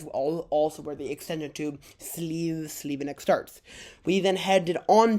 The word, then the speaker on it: Slivenec: Alright, I'll see you at Slivenec. Alrighty, welcome to Slivenec. Yeah, I kept mispronouncing Slivenec as Slivenec. I think at one point I heard a tram announcement, and then I corrected myself.